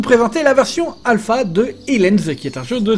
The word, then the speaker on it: Ylands: Alors oui, vous allez me dire, pourquoi est-ce que je dis Aliens et pas Wildlands? Eh bien c'est tout simplement parce que les développeurs m'ont dit que c'était la prononciation correcte du nom de leur jeu.